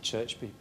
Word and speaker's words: Cherchbi: I pronounce it Cherchbi, but I'm from the north, so there we go.